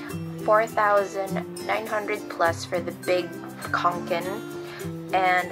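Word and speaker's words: Kånken: Oh, so yeah, if you're wondering, the pronunciation is Fjallraven Kanken. That's how they pronounce it.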